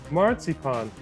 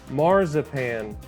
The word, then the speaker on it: marzipan: And yes, the correct German pronunciation is marzipan, not marzipan.